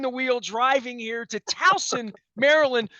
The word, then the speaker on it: Towson: wheel driving here to talson Maryland still pronounced tosen by some folks up there in Bucks County because they don't know better up there uh this